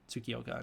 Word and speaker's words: Tsukioka: can 100% remember that their names are Tsukioka and Kobayashi. That's how you pronounce them.